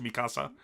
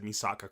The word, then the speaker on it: Misaka: I said her name wrong 3 times before I finally said Misaka correctly.